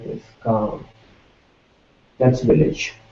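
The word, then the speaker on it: गाँव: And village in Hindi we say gaon, gaon. And if you are already familiar with Devanagari script, you can write it like this, gaon. That's village, gaon.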